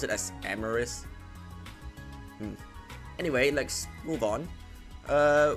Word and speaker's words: Amoris: forgot how it was pronounced I think it's amaris then I keep pronouncing as amaris because it reminds me of